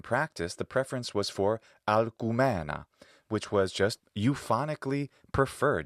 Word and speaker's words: Alcumena: Well, this could be Latinized as Alcmena, but in practice the preference was for Alcumena, which was just euphonically preferred. It was just prettier sounding to the Latin ear, Alcumena.